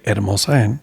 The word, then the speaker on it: Hermosa Inn: I say Hermosa Inn because that's actually how you say it.